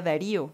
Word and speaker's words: Darío: Dario Quién dice Denis me dice que el nombre correcto se pronuncia Dario pero es es daria a la que yo veo él sería Darío es un macho Gracias